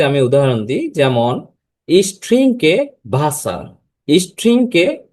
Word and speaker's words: Wasser: হচ্ছে এই অ্যালফাবেটের নেম হচ্ছে ভে এবং এটার উচ্চারণ হবে ভয়ের মত। একটি সেন্টেন্স দিয়ে যদি আমি উদাহরণ দিই যেমন স্ট্রিংকে ভাসার স্ট্রিংকে ভাসার।